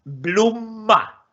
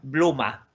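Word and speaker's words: blomma: Es en blumma. Blumma. O sea, primero la M y después la M. Blumma. Y bien pronunciado, bien pegado a los labios. M. Blumma. En blumma, no en bluma.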